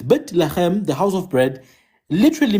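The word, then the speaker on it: בית לחם: So Bethlehem is two words, Bet Lachem.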